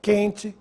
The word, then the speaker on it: quente: palavras que sem trema quente questão quesito você notou se eu pronunciei a letra U não agora preste atenção nestas